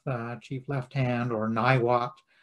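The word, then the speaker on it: Niwot: chief left hand or nywot or niwa as it should be pronounced who lived in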